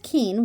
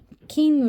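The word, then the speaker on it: 金: Roman alphabet here that uh how this is pronounced and of course this is Keen which is like gold and and it does say Keen here so Keen kin I have the hardest time saying the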